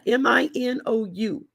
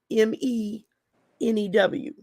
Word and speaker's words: minou: me new okay now m-i-n-o-u but it's pronounced like m-e-n-e-w is what it would look like phonetically like me new but it's spelled m-i-n-o-u